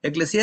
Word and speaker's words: ekklesia: definición de esa palabra eclesia eclesia es la pronunciación pero más importante viene